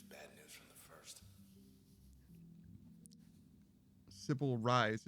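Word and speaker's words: Sybil Reisz: Sybil Rise is how her name is pronounced.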